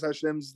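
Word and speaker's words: השם: Hashem.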